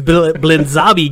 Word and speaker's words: Blinzabi: It's like wasabi with a Z. It's Blinzabi Games.